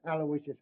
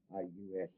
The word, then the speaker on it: Aloysius: Terrence Aloysius Hogan. All right, Hogan. You're not a bad guy. I guess you deserve a break. Yeah, spell that middle name right. It's Aloysius. Aloysius.